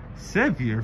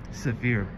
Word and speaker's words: Sevier: Sevier for Sevier.